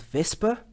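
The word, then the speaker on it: VSEPR: or this abbreviation actually it is an acronym because it's pronounced like a word called vesper okay vespa theory or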